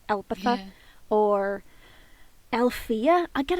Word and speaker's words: Elpitha: I don't know why they put the emphasis on the E and not the I. It's Elpitha.